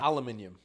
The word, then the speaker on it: aluminium: aluminum yeah terrible aluminum it's aluminium what you guys alum why are you doing all those why are you doing all the exercise how do you say it aluminium I don't know if that's true no but it's 100% true you guys speak English we invented the language and you guys remixed it let's see aluminum that's